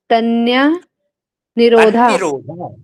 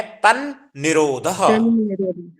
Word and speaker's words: तन्निरोधः: वैराग्याभ्याम तन्य निरोधा। तन्निरोधः। तन्ना ना पूरा नहीं करना आपको, उच्चारण ना आधा है तो कैसे करना है? तन्निरोधः।